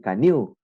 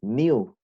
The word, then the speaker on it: knew: No vas a decir canoe, dices new nada más, ¿ok? Entonces ahí está un tema de pronunciación.